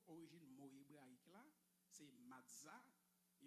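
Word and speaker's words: מצה: Cela se prononce matzah. M-A-S-T-H. M-A-T-S-T-S-A-H. Cela se prononce matzah.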